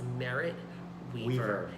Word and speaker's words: Merritt Wever: Well, and someone, I don't remember who, but whoever gave the award to Merritt Wever mispronounced her name as well. Her name is Merritt Wever.